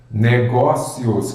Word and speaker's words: negócios: outras bancas fazem assim negócios Qual que é a sílaba tônica é a penúltima Então ela é uma paroxítona terminada em ditongo outras bancas inclusive o